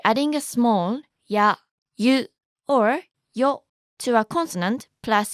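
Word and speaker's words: を: Wo is actually more commonly pronounced as o.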